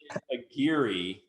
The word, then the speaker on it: Aguirre: so aguirre a-g-u a-g-u-i-r-r-e right r-e yes sir agiri seven seven with the number seven at the